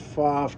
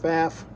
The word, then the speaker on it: Pfaff: Now, the word Pfaff can be pronounced Pfaff or Pfaff.